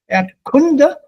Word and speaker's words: Erdkunde: This single quote before the E means the stress, the Betonung, accent is on the E, the first syllable. It's not Erdkunde, sondern Erdkunde. Erdkunde.